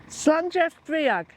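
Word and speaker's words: Слънчев бряг: Slanjev Briag is how you pronounce it.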